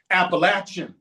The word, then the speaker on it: Appalachian: It's Appalachin Mountains. I throw an apple at you or you got an itch. You got to scratch them. It's Appalachin Mountains. I said, "Okay, apple." Close. Appalachin.